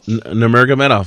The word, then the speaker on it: Nurmagomedov: with the chain wrestling monster that is Khabib Nurmagomedov. Did I pronounce it right? Yeah, Nurmagomedov.